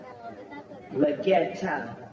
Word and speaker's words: Leggero: Leggero.